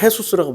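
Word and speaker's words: Jesús: 스페인어로 예수를 해수스라고 발음해요. 축구 선수 중에 해수스가 얼마나 많아요? 지저스를 해수스라고 발음을 한다고.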